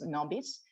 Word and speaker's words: NoBis: padua and i'm very glad today to present nobis from latin so it's a correct pronunciation is nobis and this is a crowd monitoring service uh